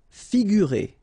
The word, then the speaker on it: figurer: Figurer. Okay, so here you get this G and U together without any vowel after, so you will pronounce this combination U-G-U, sorry.